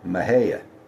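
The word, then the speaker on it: Mexia: town that's spelled M Xiai A, but you pronounce it Maha, a Glen Karan.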